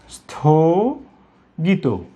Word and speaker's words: স্থগিত: আমরা এই শব্দটিকে শুদ্ধ উচ্চারণ করব স্থগিত, স্থগিত। শেষে কিন্তু ও উচ্চারণ হবে, এটা কখনো স্থগিত বলবো না, স্থগিত।